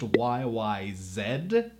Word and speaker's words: YYZ: Just a side note, the song title is actually pronounced YYZ. It's a Canadian song written by Canadians. The title is literally taken from the Toronto International Airport. It's Zed.